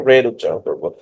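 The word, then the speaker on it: read: বাট উচ্চারণটা যখন আমরা উচ্চারণ করব তখন এটা রেড উচ্চারণ করব।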